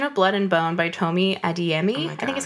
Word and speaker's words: Tomi Adeyemi: So I read Children of Blood and Bone by Tomi Adeyemi.